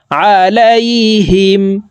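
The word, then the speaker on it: عليهم: বলতে হবে এভাবে আলাইহিম আইন জবর আইন হরফকে হালুকের মধ্যখান থেকে চাপ দিয়ে উচ্চারণ করব আলাইহিম এই দকে চার আলিফ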